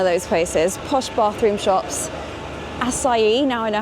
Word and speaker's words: acai: Acai, now I know how to say it.